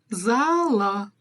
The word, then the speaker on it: реттеу залы: помним о том что ударение в казахском языке практически всегда ставится на последний слог исключение составляют если в конце у нас стоит буква Ы или буква Ы то есть палочка с точкой её мягкий вариант буквы у Итак погнали первое слово РЕТ рете реттеу ещ раз рете рете ретте и второе слово зал зала ударение на не ставится только что про этом только что об этом проговорила зал зала ретте зала ретте зала дамы и господа я